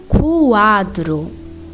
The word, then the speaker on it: quadro: When Q and U is with the vowel A or O, you will be pronouncing the letter U. For example, quadro, quadro.